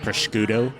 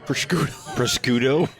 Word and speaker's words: prosciutto: it was like like prosciutto proscudo you're gonna give the Italian a heart attack if you pronounce it that way yeah you can have